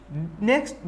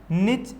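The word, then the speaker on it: niche: ठीक है, अब नेक्स्ट दूसरा टर्म है निकेत। दूसरा टर्म क्या है? निकेत, या इसे सिंपली निच या निक भी प्रोनाउंस कर सकते हैं इंग्लिश में।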